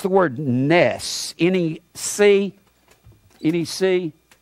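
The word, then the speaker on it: נֵס: it has the same meaning it's the word Ness any see any see it's pronounced Ness there'll be an instant it means a flag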